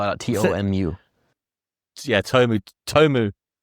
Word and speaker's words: TOMU: it to tumu or is it do you spell it out? T O M U.